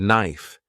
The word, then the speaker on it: knife: For example, the word enough sounds like enough, and knife is pronounced without the K sound.